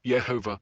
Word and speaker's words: Yehovah: the consistent vocalization as Yehovah across the Masoretic manuscripts suggests that it may reflect an older tradition of pronunciation. The evidence for Yehovah as the correct pronunciation.